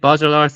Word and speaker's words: Baudrillard: I actually do recommend you read Baudrillard's Simulacra and Simulation eventually, because it's very tied into all of this.